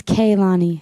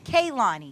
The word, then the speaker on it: Kehlani: hey how you doing so how do I pronounce your name it's Kaylani Kaylani yes where are you from I'm from North